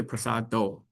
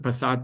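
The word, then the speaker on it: prasāda: is a prasad uh often people say prasad do uh it's actually prasad there's no o here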